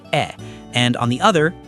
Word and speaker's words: e: For E, you're going for what we call a closed sound. Your mouth stays pretty relaxed, almost like you're holding a little gentle smile.